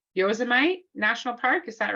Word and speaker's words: Yosemite: They have two types called the sequoia and I'm going to say this wrong, Yosemite National Park. Is that right? Yosemite, I think.